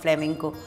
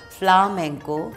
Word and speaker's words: flamenco: Pronunciation is not flamenco. Flamenco, flamenco is, you know, the Spanish gypsies, they took the influence of Kathak, raw Kathak, from Rajasthan and traveled.